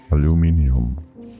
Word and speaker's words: aluminium: Aluminium. God, dude. I'm I don't remember how to pronounce it properly anymore because of all the wrong pronunciations I hear from other people. Aluminium. That's the one.